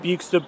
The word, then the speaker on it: Euxton: that you can see the fast lines from Euxton Balshaw Lane railway station.